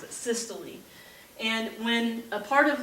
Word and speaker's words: systole: are weird pronunciations the first one is called systole systole but that's how you pronounce it systole and when a part of the heart or